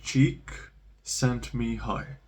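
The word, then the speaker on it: Csikszentmihalyi: can't pronounce the name it's like cheek sent me high tricks on me like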